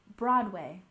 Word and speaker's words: Broadway: next we have Broadway remember Broadway has emphasis on the first syllable Broadway Broadway seeing a Broadway